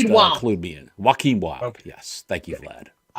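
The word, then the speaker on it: Joaquin Wilde: Joaquin Wild.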